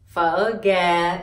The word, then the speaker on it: gà: Gà, and to pronounce phở gà, you pronounce g. This is g. This is a. Gà together. This too is gà. And you add in dấu huyền, gà. G a gà huyền gà.